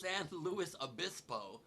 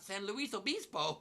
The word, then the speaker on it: San Luis Obispo: of all it's pronounced san luis obispo not san luis obispo i only didn't correct you because technically in spanish it's a spanish name luis is luis and not lewis like we say it but colloquially you're wrong